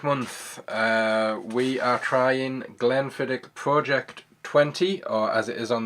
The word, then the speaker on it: Project XX: we are crying Glenfiddich project 20 or as it is on the label project xx is pronounced 20 as in Roman numerals it is the second